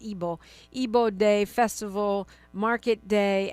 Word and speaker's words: Igbo: It's spelled Igbo, but it's pronounced Ebo.